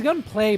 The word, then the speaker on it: Gunpla: It's gunplay, but it's spelled Gunpla.